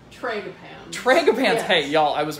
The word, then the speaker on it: Tragopans: Correct me on the pronunciation. Trogopans? Tragopans.